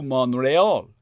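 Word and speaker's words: Montréal: that takes oil to Montreal, in its proper French pronunciation.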